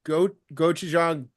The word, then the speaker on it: gochujang: That one is also good too, and that one's a hand-breaded tenders tossed in a gochujang maple syrup. And yes, I Nice. know it. That's how you pronounce it because I've actually learned from people who I've actually had a.